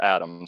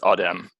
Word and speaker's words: Adem: And it's just Adam, so don't worry. Oh, it's Adam? Yeah, it's Turkish. Okay, so you Americanized it. How they say it in Turkey? It's Adem.